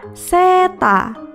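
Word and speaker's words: セーター: Berikutnya adalah gambar baju hangat atau sweater yang dalam pelafalan bahasa Jepang adalah seta.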